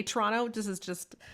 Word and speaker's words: Toronto: you so you say toronto this is just not part of the podcast but this is just my toronto nature is like you don't pronounce the second t it's like it's like toronto it's chi it's c-h-r-o-n-n-o